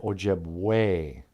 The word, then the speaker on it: Ojibwe: way to remember it the word ojib way Google thinks Ojibwe is spelled w-a-y no it's with an E ojib way but e sound like a and there you go